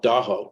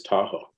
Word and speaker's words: Tahoe: on the shorelines of what we call Daho, which is Lake Tahoe, mispronounced as Tahoe.